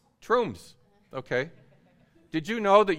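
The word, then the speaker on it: Tromsø: the north of Norway it's pronounced the name troomph okay did you know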